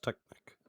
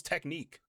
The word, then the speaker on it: Technic: It's pronounced Technic. Yeah, I thought it was Technique.